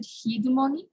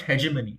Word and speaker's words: hegemony: how to pronounce it is it heedumoni uh which one uh like these individuals should have hegemony over their culture yeah it's pronounced hegemony it means that um